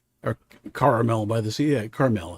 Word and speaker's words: Carmel: Carmel. It's called Caramel. Emphasis on the second.